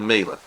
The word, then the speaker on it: Miele: available, regardless of where it's made, research the Miele. That's spelled M-I-E-L-E.